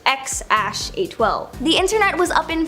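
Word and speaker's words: X Æ A-Xii: Okay, so we all know their first kid's name is X something, or apparently it's pronounced X-A12.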